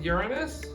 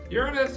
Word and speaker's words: Uranus: tilted on its side Uranus is made out of a interesting combination of gases including lots of methane this is why I always pronounce this planet as Uranus instead of Uranus because the entire room